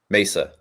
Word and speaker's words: Mesa: it's a it's a four-letter one syllable town in Arizona Mesa two syllables that's I am oh